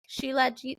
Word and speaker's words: Shilajit: I think like Shilajit to quit. Too legit to quit. Like that's how I remember how to say it actually.